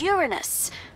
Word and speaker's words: Uranus: jokes about Uranus besides the proper pronunciation is Uranus it's a dactyl sorry Friday hey and